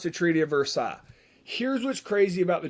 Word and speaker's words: Versailles: it's spelled the treaty of versailles but it's pronounced the treaty of versailles here's what's crazy about the treaty of versailles